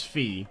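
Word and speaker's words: Fie: do you mean okay so it is fee so we'll try and say that from now and instead of phi stand back they just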